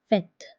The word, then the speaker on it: fête: I, O, U, and there is no change in the pronunciation except for the letter E, which is pronounced as E, just like l'accent grave. So when it's placed on E, the pronunciation becomes E.